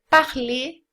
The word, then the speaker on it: parler: dizer ar ler né esse r não é pronunciado parler tá ruim femini shake